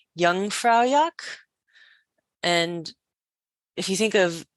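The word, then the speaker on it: Jungfraujoch: Europe is also known as young fra yak and if you think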